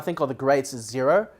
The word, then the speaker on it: Xero: Well, I mean, one of the ones that I think are the greats is Xero, spelled with an X.